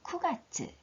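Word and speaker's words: 九月: 자, 큐지라고 읽지 않고 쿠지라고 읽는 거 기억해 주시고 9월도 마찬가지 큐가츠가 아니고 쿠가츠.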